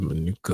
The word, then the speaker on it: manuka: So, say Manuka honey. Manuka. Manuka honey. What is that? Never heard of Manuka honey.